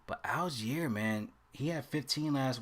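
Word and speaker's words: Allgeier: So in the Atlanta side, what y'all think about Tyler Algier? Algier, that's how you pronounce him.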